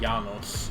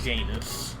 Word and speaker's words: Janus: One is that his name's not Janos, it's Janus. That's how they say it in the film.